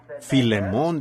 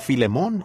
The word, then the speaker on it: Filemón: la falta de Educación Así que Filemón dijo alguien allá atrás lo cual creo que es la pronunciación correcta Ahora el